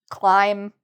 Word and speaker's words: climb: Numb, dumb, climb. When you see MB together, the B is usually silent.